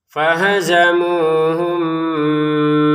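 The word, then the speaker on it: فَهَزَمُوهُم: Fahazamuhum biidnillah. Nah, di sini fahazamuhum ya. Fahazamu. Jadi yang panjang munya ya. Jangan yang enggak panjang dipanjangin.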